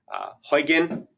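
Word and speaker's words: Huginn: Huygen is pronounced, it's spelled Huggin, but it's pronounced Huygen. Huygen is built on Ruby on Rails.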